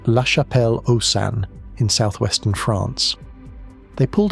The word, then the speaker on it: La Chapelle-aux-Saints: Pronounced La Chapelle-aux-Saints in southwestern France.